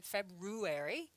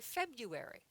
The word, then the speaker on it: February: Okay, there's an R in there, but we don't say February. We say February.